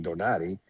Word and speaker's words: Donaire: I mean, Nonito Donaire, like, you got to remember, or the correct pronunciation, Donati.